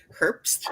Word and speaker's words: Herbst: Hello, I'm Herbst, is how it's pronounced.